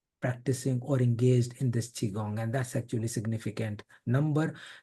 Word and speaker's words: Qigong: n and I know some people call it quigong and that's absolutely fine. It doesn't matter. The correct pronunciation is chiong.